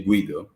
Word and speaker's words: Guido: We say in Italy Guido. I think originally Guido. is a German name, so it's simple as Guido. And in Italy we spell out every vowel, so it's a very singing language, and we say Guido. So it's like if you sing along, you will pronounce very well.